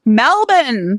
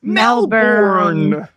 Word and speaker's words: Melbourne: the first one it starts with an M Melbourne Melbourne I'm going to spell that for those of you who are not in Australia it's m e l b o u r n e many of us might have pronounced it as